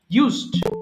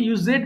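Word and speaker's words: used: ব্যবহার করা ইউজ ইউজড ইউজড অনেকে ইউজেড বলে ফেলে ভুল করে এটা কিন্তু সিম্পল ইউজড হবে ইউজ নট ইউজেড আচ্ছা এবার হচ্ছে বেরি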